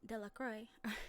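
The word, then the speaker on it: Delacroix: harry jones and dicky lacroix the villagers pronounced his name de la croix de la the village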